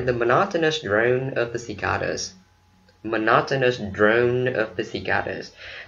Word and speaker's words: cicada: Trọng âm rơi vào cái âm thứ hai, cicada. Ok, mình đọc cicada là sai ha, phải là cicada.